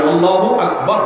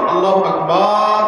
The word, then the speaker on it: আল্লাহু আকবার: আল্লাহু আকবার উচ্চারণ করার সময় আকবারের রাকে টেনে পড়া ঠিক হবে কিনা? না, ঠিক হবে কেন? তাকবীরের সাথে বলতে হবে আল্লাহু আকবার, আল্লাহু আকবার, এরকম বলা যাবে না।